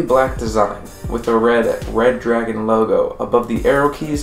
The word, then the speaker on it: Redragon: design with a red red dragon logo above the arrow keys on the right side yeah it's spelled redragon but I'm just going to assume it's pronounced red dragon R back to the